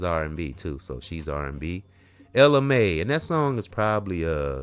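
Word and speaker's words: Ella Mai: And let's move over to if I say her name right, Ella May, and it's Ella M-A-I, and if I'm not pronouncing it, I hope I'm pronouncing it right, Ella May, and she made that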